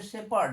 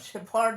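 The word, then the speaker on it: shepherd: এইচ ই আর ডি শেপার্ড উচ্চারণ হচ্ছে শেপার্ড শেফার্ড বলো না আবার শেফার্ড না উচ্চারণ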